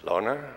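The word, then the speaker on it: Lowney: I was very pleased yesterday to meet Chris Lohner, is the right pronunciation, the author of Heroic Leadership, who is with us here.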